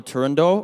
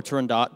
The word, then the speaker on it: Turandot: First off, so this is Nessun Dorma from the opera Turandot, or Turandot, depending on how people pronounce it, by Puccini.